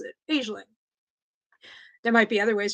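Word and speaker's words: Aisling: i s l i n g that's usually pronounced as aeling aeling because there's a I know this because there's an Irish comedian and actor named aeling be and that's how she pronounces it aeling there might be other ways to pronounce it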